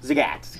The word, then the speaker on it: Zagat: Cornerstone of its local Zagat Zagat like Cat in the Hat okay good to know